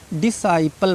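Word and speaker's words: disciple: क्योंकि एस के बाद आया है सी, तो सी क्या है, साइलेंट है, सी का प्रोनाउंस हमको नहीं करना है, सी मूक है, ठीक है।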